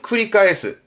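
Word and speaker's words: 繰り返す: 그러니까 실을 감고 돌이켜 또 감고 또 감고 또 감고 하는 발음은 쿠리카에스 반복하다입니다.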